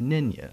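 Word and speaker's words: Nänie: spelled N-A with an umlaut, N-I-E, and it's pronounced Nynya, as you tell me, mm-hmm.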